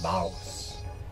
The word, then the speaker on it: Baous: Yeah, I think we're pronouncing the S, Baous. Oh, Baous.